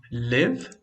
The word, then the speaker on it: live: Okay, this is live, which means morar or viver. And this is leave, which means deixar or sair. Live, som do I bem rápido, short sound. Leave, it's longer, é mais longo.